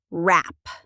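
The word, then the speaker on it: wrap: And rap. W R A P. The W is silent. Rap like the music genre.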